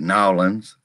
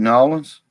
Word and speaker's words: New Orleans: yes and the quarter you got to say it like you live there it's no one's yes it's nolan nolan's louisiana but look you can get away with new orleans if if if you move there if it if and